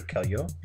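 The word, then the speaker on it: Caillois: playing games by Roger Roger Kelly Oh is how you say they had some like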